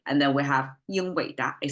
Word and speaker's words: 英伟达: 英伟达 is today's Nvidia, right? And that's how it's pronounced.